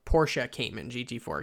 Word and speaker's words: Porsche Cayman: going to be a 2016 porsche cayman gt4 porsche cayman gt4 excuse me i didn't mean to mispronounce this is a few future classic porsche